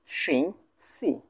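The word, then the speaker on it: 星期: করতেছি সেটা হচ্ছে যে সিং সি সিং সি এটা ফার্স্ট টোন এইটা ফার্স্ট টোন এটা ফার্স্ট টোন তাহলে উচ্চারণ কেমন করে করবো সিং সিং তারপর সি সিং সি সিং সি সিং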